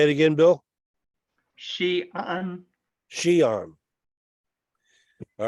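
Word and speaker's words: Xi'an: session in the book of perspectives oh is pronounced shean shean out of Northwest China say it again Bill Shan Shan all right yeah she would be uh West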